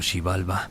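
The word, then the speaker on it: Xibalba: El inframundo llamado Shibalba, pronunciado Shibalba, no era simplemente un lugar de castigo para los muertos como el infierno cristiano.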